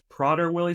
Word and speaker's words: Prader-Willi: today we're talking about PR Wily syndrome that's how we pronounce it prer Willie yeah so